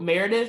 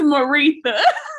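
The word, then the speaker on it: Maretha: What, Meredith? Or it's not Meredith. It's like, how does she pronounce this baby's name? It's Maritha. Maritha.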